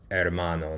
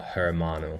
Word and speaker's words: hermano: is a h and the H is silent so just going through